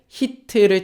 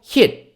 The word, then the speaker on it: hit: 히트 쳤어요라고 합니다 어땠어요네 t 발음을 아주 좁게 해요 한국에서는 히트라고 얘기하자면 영어는요 멈춤이라고 써놓고 튀겨서 써놨어요 히트 아니고요 목 올려주지 마시고 힙 잠깐 멈췄다가 숨을 쉬면서 티 발음을 살짝만 내주는 거예요 실드 t 발음 들리십니까 앱 요게 극단적으로는 미국에서 영어하는 이제 원어민들 같은 경우는 t 발음이 거의 안 들릴 때도 많아요 그만큼 마지막에 오는 팁 발음은 소리를 줄여주고 멈췄다가 살짝만 해줘요 저랑 같이 한번 따라해